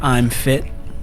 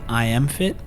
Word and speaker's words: I AM Fit: cool he's here with I'm fit is that how you pronounce it I am fit I'm fit I am I am it's meant to be an acronym I am intentional movement